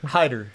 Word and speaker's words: Hayter: Hayter. Hayter. Say. Hayter. How high are you? How are you? Yeah. Hayter. It's spelled H-A-Y-T-E-R. And so just the A is silent.